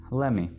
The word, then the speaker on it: let me: Let me. Let me को अंग्रेज pronounce करेगा let me.